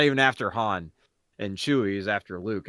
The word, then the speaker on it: Han: I don't like how he says Han instead of Han, but like, whatever.